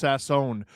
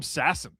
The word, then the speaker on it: Sasson: Uh, just FYI, Max's last name is pronounced Sassone. Oh, everyone's been calling him Sassin.